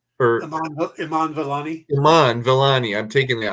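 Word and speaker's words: Iman Vellani: it immani is that how her name is pronounced or Iman Iman valani Iman valani I'm taking the I from her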